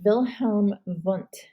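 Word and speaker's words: Wilhelm Wundt: i really want you to know about is wilhelm vonte you always pronounce the w's as these when they're german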